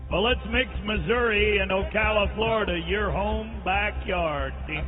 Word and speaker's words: Ocala: And mispronounced it both times. According to Patty, maybe. Not according to Muck. It's Ocala.